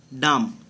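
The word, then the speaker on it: dumb: বি অনুচ্চারিত বা be silent. D ইউ এম বি ডাম, এই beta অনুচ্চারিত থাকবে, সাইলেন্ট থাকবে।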